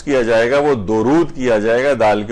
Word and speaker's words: درود: تو اصل جو اس کو تلفظ کیا جائے گا وہ درود کیا جائے گا، دال کے اوپر پیش ہے، دال کے اوپر زبر نہیں ہے.